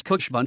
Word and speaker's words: Khushwant: He chose Khushwant so that it rhymes with his elder brother's name Bhagwant.